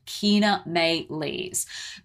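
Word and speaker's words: Chaenomeles: how to pronounce it it's it's spelled c-h-a-e-n-o-m-e-l-e-s and that is pronounced Kina Mae leaves what it actually is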